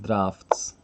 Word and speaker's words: draughts: but I just pronounce the draughts pronounced drafts I guess some some dialects